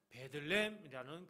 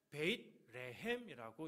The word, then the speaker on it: 베들레헴: 그동안 잘 나오지 않았던 단어 그 지역 중에 하나 베들레헴이라는 그 단어가 나옵니다. 원래 이거는 발음이 정확하게 하면 베잇레헴이라고 이렇게 읽어야 되는데요.